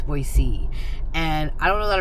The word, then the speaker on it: Boise: I don't think I've ever heard the city of Boy Boisey. Someone in the comments said that they live in Boise and it's not Boise, it's Boisey.